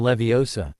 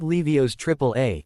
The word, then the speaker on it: Leviosa: The pronunciation is Wingardium Leviosa, not Levio's triple A.